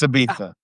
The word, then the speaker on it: Ibiza: It's Ibiza. It's Ibiza. Barcelona, Ibiza, Glacius. That's how they say it, dude.